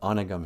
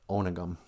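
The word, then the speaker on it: Onigum: I wonder if there's anything about onagam here, or as it's actually pronounced, onagam.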